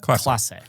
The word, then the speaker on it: Klasse: a ss e, which you say is class.